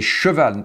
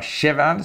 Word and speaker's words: cheval: Et cette chanson qui s'appelle « Le petit cheval blanc », donc on peut dire « Le petit cheval blanc » ou « Le petit cheval blanc ». Et c'est « cheval », ce n'est pas « cheval », c'est « cheval blanc ».« Le petit